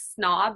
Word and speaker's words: snob: Such as snob, which we've taken from the English, we would pronounce the B.